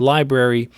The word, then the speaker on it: LBRY: lbc protocol library credits lbry which is pronounced library is a decentralized digital content marketplace the coin is lbc lbry or library is a protocol for